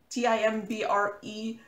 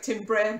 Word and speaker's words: timbre: a different timbre, like T-I-M-B-R-E, that's the right word. It looks like timbre, but it's, I think, pronounced timbre.